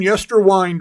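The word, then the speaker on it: Yesterwynde: You're still saying yester wind wrong. It's like wind a clock, dude.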